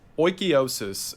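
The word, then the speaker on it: oikeiosis: get into it and i'll leave it alone oikiosis and according to the internet that is how it's pronounced i looked one up this time it's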